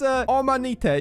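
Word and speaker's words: Omanyte: Try to pronounce this Pokemon. The blue one? This one. Omanite. I don't know. Yeah, that's Omanite.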